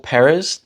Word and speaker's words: Pérez: So if we kept the stress on the first syllable, Peréz, that second syllable would sound kind of awkward.